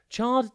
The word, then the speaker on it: charred: r r e d think char and then red chard describes something burned and